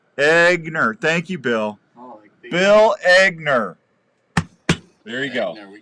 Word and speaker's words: Egner: your last name e-g-n-e-r how do you pronounce that e-g-n-e-r yeah eggner i have no i